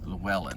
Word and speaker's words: Llewellyn: Llewellyn is the one that, or Llewellyn is the one, Llewellyn, that's how you say his name.